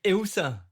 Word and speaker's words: Ilse: Like Elsa from Frozen? Like, that's Elsa.